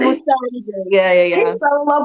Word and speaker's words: Musanze: fell in love with Muzanzi off the video. Am I saying it correctly? Yeah, Muzanzi? Musanje.